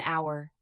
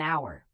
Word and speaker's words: hour: Use an before vowel sounds, an apple, an hour, an umbrella. Notice an hour. The H is silent, so the sound is a vowel.